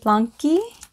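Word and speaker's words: Blanqi: my I think you I think you pronounce it blankie it's BL a nqi the blankie compression postpartum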